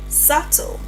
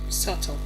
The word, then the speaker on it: subtle: Moving on on rule number two, b is silent before t. We have subtle. subtle subtle subtle not sub to And it's still definitely subtle not subtle.